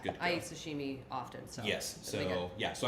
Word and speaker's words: sashimi: Is it sashimi? How do you say that? Sashimi.